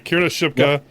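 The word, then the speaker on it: Kiernan Shipka: camera I I can never remember how to pronounce her name Kieran shipka yeah yes that's how is it Kier shipka okay Kier shipka plays uh Carrie and Camera uh Dakota Doby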